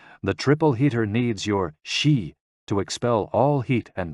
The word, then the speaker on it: Xi: which is associated with the spleen and XI pronounced like she which connects the whole body the following poem